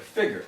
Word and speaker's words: figure: writing f-i-g-g-e-r number one i like the way the words that it rhymes with number two of course which of course is trigger yeah trigger figure i guess